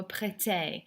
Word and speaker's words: prêtez: Vous me prêtez. Never pronounce that Z, by the way.